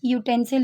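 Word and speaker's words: utensil: तो यू इन यूटेंसिल is read as ए यू।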